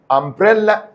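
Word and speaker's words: umbrella: الحاجات اللي عايزك تعرفها ان كلمه امبريلا من الكلمات اللي بتاخد ان لان حرف اليو هنا ماتنطقش يو امبريلا طب كيم اند ها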